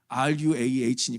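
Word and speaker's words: רוח: 몇 분들은 반대를 했어요이 ruh라는이 히브리 단어가 한국말로는 루하 아고 발음 되지만 영어는 또 루아로 발음 되잖아 이거 어렵잖아요 왜이 어려운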